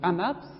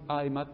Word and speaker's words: AMAP: Donc c'est bien un acronyme, c'est pas juste un sigle, parce que je peux le prononcer. Je ne dis pas une AMAP, je dis une AMAP.